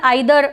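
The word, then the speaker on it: either: Pronunciation आइदर और भी हो सकता है, नाइदर नॉर भी हो सकता है, और ईदर और नीदर नॉर भी हो सकता है।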